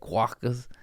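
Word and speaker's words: quokka: these little quaas there that's how you say it quaas q a k k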